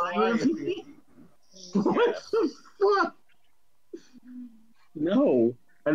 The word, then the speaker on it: calliope: That is pronounced Calliope.